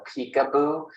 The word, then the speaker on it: PCAOB: three years by the pcaob so literally sometimes people will call it peekaboo I don't see how that pronounces peekaboo but anyway some people call it that and um that's